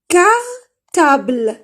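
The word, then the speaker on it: cartable: كارتابل كارتابل ما قلتش الأو، شوفوا صح هي كاينه الأو في الأخير بصح الأو في الفرنسية في الأخير لا تنطق. هو قالك كي نسمع ماشي قالك كي تشوفوا الحرف. هنا كاين الأو كيما هادي بورت شتو كاينه الأو صح هي في الأخير بصح ما كاش الأو ما سمعناهاش. كارتابل ما سمعناش الأو ما نلونوش.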